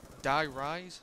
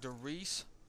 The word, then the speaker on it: Die Rise: Die Rise, like Derice off of Black Ops 1, Derice, but it's Die Rise.